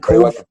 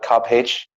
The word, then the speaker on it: Cobh: I've actually quite like Cove. Big fan of yes, as the Americans call it, Cobb H. It's spelled COBH, so it doesn't make any sense.